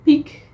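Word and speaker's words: piek: in the Netherlands the peak, which is, as you pronounce it and as you write it down, almost the same of peak, you know, mountain peak.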